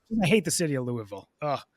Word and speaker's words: Louisville: hate the city of Louisville oh the way they make it sa get there it's pronounced Louisville oh yeah Louis lisam